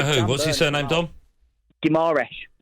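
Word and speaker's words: Guimarães: Guimaraes. Guimaraes is how you say it.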